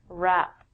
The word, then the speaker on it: wrap: We don't say the W when we say this word, wrap.